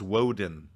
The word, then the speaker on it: Woden: is he what pants he honestly it's not woton it's woden yeah walden what's pantheon is he from that's